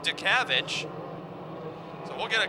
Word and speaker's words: Dutkiewicz: first name is Andrew last name is spelled Dutkiewicz but I'm told that they call him to kavik so we'll get a